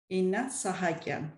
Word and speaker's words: Inna Sahakyan: Inna Sahakyan. Sahakyan. Sahakyan. Yeah, the same way as it's spelled, so nothing okay.